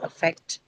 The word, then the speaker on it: effect: And the first one is going to be of course the schwa. So it cannot take the stress. Hence it goes to the second syllable.